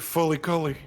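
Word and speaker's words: FLCL: it just like that they pronounce it Fly Cly remember when John Cena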